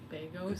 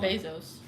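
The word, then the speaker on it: Begos: Beos. It's not Bezos.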